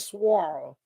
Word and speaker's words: SWARL: I pronounce it Swarl.